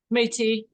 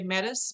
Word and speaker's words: Métis: Métis. Métis? Okay. Yep. Some of the Métis will say Metis, or Yeah. depends on where you're from, regionally.